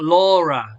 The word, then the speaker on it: Laura: okay all like L Laura so in English the name is not la like in Spanish it's Laura Laura in Spanish sounds horrible